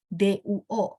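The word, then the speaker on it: 多: Nah, terus di bawahnya pas banget ada duo. Duo bacanya tidak pakai angin, bener nggak?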